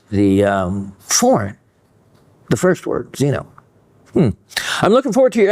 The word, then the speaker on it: xeno: Zenithine comes from the Greek xeno, pronounced, okay, xeno, K-S-E-N-O. So I think that would still be xeno, meaning foreign.